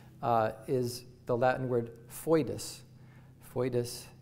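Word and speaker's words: foedus: bit less frequent uh is the Latin word fo Fus it's spelled f o d f OE d s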